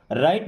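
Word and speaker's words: write: अगर डब्ल्यू के बाद कभी आर आया है तो डब्ल्यू वहां पे साइलेंट हो जाना है। यानी कि डब्ल्यू को नहीं बोलना है।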